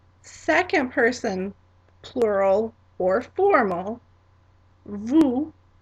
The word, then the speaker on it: vous: Second person plural or formal, vous, vous.